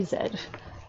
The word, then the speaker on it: zed: I got to hear someone say Zed the proper way of pronouncing the final alphabet in the letter the final letter in the alphabet so this first little